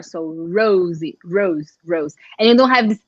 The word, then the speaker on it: Rose: And I would say Rose. How would you pronounce it? Rose? I mean, in English, Rose. But I think, well, if you're in Portuguese, like if you say in Portuguese, we would say Rosie.